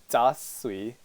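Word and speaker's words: 杂碎: So the Chinese pronunciation is da sui.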